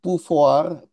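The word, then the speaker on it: pouvoir: membentuk undang-undang sendiri itu puar puar bacanya konstituan pufuar ini dari bahasa Prancis pufar ktituent the last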